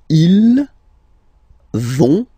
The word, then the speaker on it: vont: So, ils vont, final T, not pronounced.